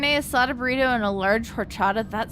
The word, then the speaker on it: horchata: I did just pronounce the H in horchata. Unfortunately, that's how everybody I grew up around pronounced it, so...